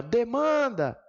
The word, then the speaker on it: demanda: A sílaba tônica, quando eu falo assim, ó, demanda, qual é a sílaba mais forte de demanda? É o man.